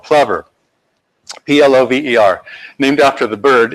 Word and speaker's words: Plover: And for some reason, you're supposed to pronounce it plover. And I saw a science show where the scientists were calling the birds plovers, but we're supposed to say plover. I don't know why.